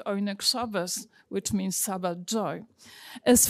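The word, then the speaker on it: Oyneg Shabbos: Monika pronounced it Onek Shabbat, but we think that they pronounce it Oinek Shabbos, which means Sabbat joy, as fulfillment of a religious duty.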